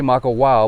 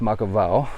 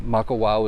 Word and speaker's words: Makawao: still learning it but a w is always pronounced with a v a lot of people say mako wow but it's act technically it's makavao um but maka wow is cool as well